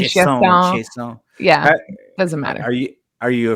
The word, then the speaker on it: Chiasson: Leadership to Wealth podcast, and today's guest, Chiasson. Is it Chiasson? Did I pronounce that properly? It's fine. Everybody says it different. Chiasson, Chiasson. Chiasson.